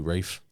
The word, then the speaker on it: Ralph: Ralph we can do Rafe away from whatever laughs it's so weird that everyone on the set called them Rafe I was like but it's spelled Ralph yeah I don't know